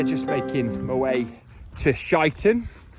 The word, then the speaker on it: Sheinton: making my way to shiten the the correct pronunciation and I got that